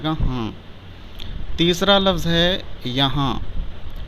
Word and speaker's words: یہاں: ہاں۔ تیسرا لفظ ہے یہاں، ہجے اس طرح کریں گے: یہ زبر یا، ہے الف زبر ہا، نون غنہ ساکن، یہ ہو جائے گا یہاں۔ چوتھا لفظ ہے کہاں،